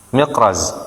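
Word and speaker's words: Mikraz: Miqraz ya atau baca mukriz. Miqraz bacanya muqriz biasanya ya.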